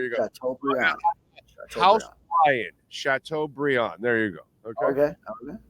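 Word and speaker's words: Chateaubriand: I'm gon sh b instead of Brian it's pronounced Brian okay chatau Brion okay so there you go Bri house Brian chatau Brion there you go okay okay okay chatau Brion got it I have a cousin named Brian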